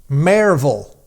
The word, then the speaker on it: Maryville: mville right she said the correct way to say it is Mayor like m a r e like a horse may v like v l not v i l l e short for Village marville marville I don't know